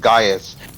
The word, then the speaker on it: Gaius: the Roman alphabet later, so the archaic spelling of Gaius and Gnaeus is Caius and then Cnaeus, but it was never pronounced that way. It was always pronounced Gaius. It was just spelled with a C.